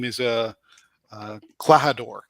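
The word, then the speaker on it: Klahadore: name is uh uh clahador clahadura i think is how you pronounce it uh and i got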